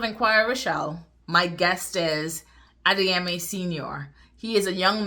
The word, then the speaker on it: Adeyemi: So Adeyemi, am I pronouncing your name correctly first off? Yes, you are. Adeyemi, yeah.